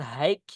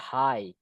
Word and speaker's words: high: Itu cara bilangnya bukan hike ya guys ya. Bacanya high. Hi gitu, Guys. So, it sounds like you wan to say hi gitu guys ya. Gitu. Junior Junior H. Enggak boleh dibaca hike gitu enggak boleh ya.